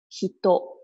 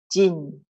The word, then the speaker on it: 人: The first pronunciation, hito, hito. Second pronunciation, jin, jin. Now, can you tell me which one is Chinese way of pronouncing? Which one is the Japanese way of pronouncing?